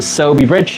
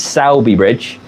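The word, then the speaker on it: Sowerby Bridge: name properly so yeah I've been calling it soby Bridge apparently it's saby bridge and I was calling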